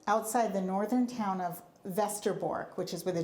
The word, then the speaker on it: Westerbork: the northern town of Vestor which is with a W westerbork but it's pronounced Vester Borg in Holland now my family is